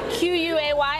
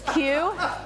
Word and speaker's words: Quay: So I have to confess, this is the brand that's spelled Q-U-A-Y. I thought it was Quay. It's Q.